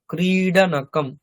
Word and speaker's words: ক্রীড়নকম: টয় খেলনা, ক্রীডনকম, ক্রীড়নকম, ক্রীড়নকম, ক্রীড়নকম। দেখুন এটা বাংলাতে আমরা যেমন উচ্চারণ করি ক্রীড়া, ওই শূন্য র, র এর মতো উচ্চারণ করি, এখানে কিন্তু র নয়, এটা কিন্তু ডকারই উচ্চারণ হবে।